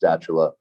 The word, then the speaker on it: Stula: Johnny stula and it's it is pronounced stula and don't worry everyone messes that name up uh Johnny was a